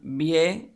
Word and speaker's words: bien: Bien, that's a diphthong, so we won't have a break in there. It's not two syllables, it's just one.